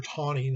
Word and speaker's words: Taney: by the name of roger tawning that's how you pronounce his name uh roger tawny is the most infamous